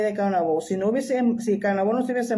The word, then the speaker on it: Caonabó: porque vuelvo y repito, se dice Caonabó, no Caonabo, pero ya es difícil de que la gente, todo el mundo, pues el nombre realmente como se pronunciaba era Caonabó.